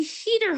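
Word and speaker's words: Huether: landmark and it will be the Hoother Hotel or the Heater Hotel if I'm pronouncing it in its proper German there.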